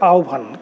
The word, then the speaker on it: আহ্বান: আমাদের এই গল্পটির উচ্চারণ, নামের উচ্চারণ হবে আহ্বান।